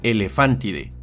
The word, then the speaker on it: elefántide: La grafía PH, esta se pronuncia como f, por lo que este nombre se pronuncia y castellaniza como elefántide y sus miembros son llamados elefántidos.